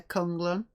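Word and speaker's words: K'un-Lun: It's Kung Lun.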